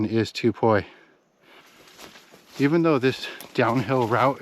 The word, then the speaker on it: Tubuai: Actually says the name of the island, Tupoi. And notice the spelling here. It's actually spelled with a P, not a B like we're used to seeing.